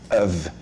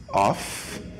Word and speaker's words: of: Eu falei of, né? Mas Junior, é um O e um F só. Por que você falou com som de V, alguma coisa? É assim que pronuncia, of.